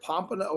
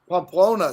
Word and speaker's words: Pamplona: Is that Pompano? How do you say that? Is it with a P? Yes. It's That's not with Pompano. Am I saying it right? Close. Pamplona, somebody wrote.